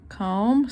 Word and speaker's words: comb: my hair right here comb c-o-m-v a silent b there my hair comb